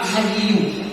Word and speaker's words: Hayyu: Allah punya nama Hayyu. Ibu, Asmaul Husna, Allah punya nama apa? Nah, Hayyu bacanya.